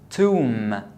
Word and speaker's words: tomb: This is tomb and crumb. So when the B is after M, I don't pronounce the B.